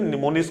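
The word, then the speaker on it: mnemonics: बोलते हैं इनको बदल निमोनिक्स कोड इसमें जो एवं है यह आपका साइलेंट है यह इसमें कई वर्ड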